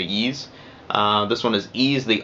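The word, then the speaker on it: Ys: in the e's series or wise however you pronounce that i usually say ease this one is ease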